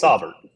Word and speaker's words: Saubert: How do you pronounce Eric Saubert's name? AJ. It's Saubert.